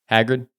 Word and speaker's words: Hagrid: That How does it say his name? Hagrid. Okay, so I said it right. Yeah. Okay. Okay. I wasn't sure. Yeah, that's how they say it.